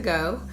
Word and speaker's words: Geaux: area called Dax to Go. It's spelled DAQS2. Go is spelled the French way, GEAUX.